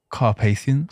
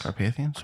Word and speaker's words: Carpathians: Carpathians. Carpathians.